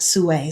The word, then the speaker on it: SUAY: And in the dream, I just kept hearing like Sue, Sue, Sue. It means show up authentically you. Show up authentically you. It's spelled SUAY.